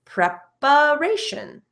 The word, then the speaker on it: preparation: But notice, I pronounce the TION as shin, preparation.